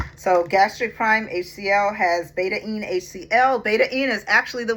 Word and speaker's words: betaine: Most people say betaine, but he says there's an alpha-ene and there's a beta-ene.